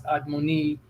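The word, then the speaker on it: אדמוני: They'll try to use the Hebrew word Adamawanya, which they pronounce Admoni, and Esau and King David being described as with the same Hebrew word.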